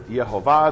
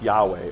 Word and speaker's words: Yehovah: And they all believed it was Yehovah. There's at least all of those that I'm talking about. There is no rabbi in historical sources who says it's Yahweh or Yahweh.